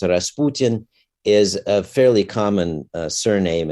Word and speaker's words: Rasputin: and all that and Rasputin uh in Russian pronounced Rasputin is a fairly common